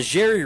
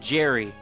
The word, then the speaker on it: Zhery: Pronounced Zhery. See, I think it's Z. Like, the Z-H combination is usually the Z.